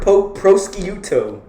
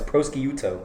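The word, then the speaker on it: prosciutto: Mushroom Delly's offering po prouto. No, it's prokiuto.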